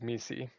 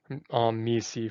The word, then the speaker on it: MECE: Now we'll be going over mutually exclusive, collectively exhaustive, also known as MECE. Now I do want to point out that the creator of MECE, Barbara Minto, pronounces it as MECE.